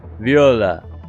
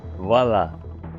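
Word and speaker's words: voilà: is bichl and cheese Viola VA or voila voila I'm sorry not Viola voila I'm pretty sure that's how you say it right yeah Commander Andrew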